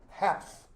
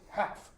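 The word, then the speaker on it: healf: this is my h-e-a-l-f the L is usually dropped so it's half how do you pronounce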